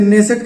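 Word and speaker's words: Knesset: की जो संसद है उसे nensat कहा जाता है कुछ विद्वानों से कहने से भी कहते हैं क्योंकि के साइलेंट रखा जाता है कुल 120 संसद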